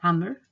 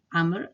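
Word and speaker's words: عمرو: And the last word amr, amr, the waw is totally silent.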